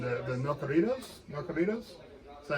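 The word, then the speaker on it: narcocorridos: The Nocoritos. Is that how you pronounce it? Yeah, Narco Corridos.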